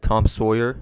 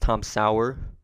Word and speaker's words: Tom Sauer: I mentioned that we had Tom Sawyer, which I found out that's not even how you pronounce his name. His name is actually pronounced Tom Sauer. I hope I'm pronouncing that right.